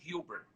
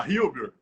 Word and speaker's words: Huber: como, olha lá, gente, registrado como Melvin Abraham Hubbard. Falei direitinho? Falei direitinho? Olha, a forma de pronunciar em inglês é Melvin Abraham Hubbard. Olá, Hubbard.